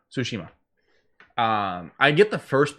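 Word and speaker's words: Tsushima: you say it again sushima sushima um i get the first part because i get the t is silent it's the ima at the end that i [ __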